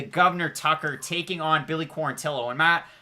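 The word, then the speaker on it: Quarantillo: tucker taking on billy quarantilo and matt i struggled with saying billy quarantino's name for a long time i thought it was quarantino or quarantijo but it wasn't and for gavin tucker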